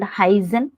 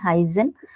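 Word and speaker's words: heißen: So this is called heizen. You have to pronounce as S plus Z, combiningly heizen.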